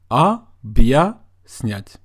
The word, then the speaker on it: объяснять: So the sound that you make is бья, бья, объяснять, объяснять, which means to explain.